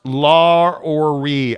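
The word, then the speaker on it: Lauri: Mo bomb exactly uh it's pronounced LA or re I speak Finnish FYI sit right Gonzaga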